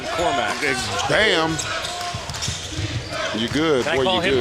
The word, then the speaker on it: Korkmaz: Now, you said that 40 because you're waiting for me to pronounce Furkan Korkmaz. Bam. You good. Can I call him the hyphen? No. You called him, what was his name again? Furkan Korkmaz.